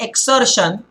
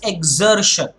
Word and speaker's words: exertion: the Z sound okay spelling is with the X but it's not exertion it is exertion to catch a breath